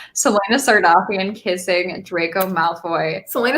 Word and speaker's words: Sardothien: my idea from imagining selena sardini sardoc i'm so sorry i hate that i just pronounced that wrong selena sardofian kissing draco malfoy selena sardothien is too much for